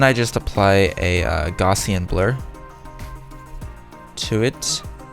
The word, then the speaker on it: Gaussian: I used to say gian, but now it's it's Gaussian because I watched a lot of tutorials that just called it a gossian blur. And I think that's the right way to say it.